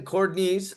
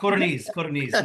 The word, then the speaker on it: Codorniz: Codorniz. No, so much easier. It's not pronounced the way it's spelled. So it's just easier phonetically. Codorniz is fine.